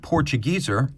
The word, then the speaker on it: Portugieser: or Portugues are well Portuguese is how you say it in English and portugieser is how it's said in German because shaf house in Switzerland